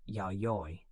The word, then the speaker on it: Yayoi: This era is known as the Yayoi period, pronounced Yayoi.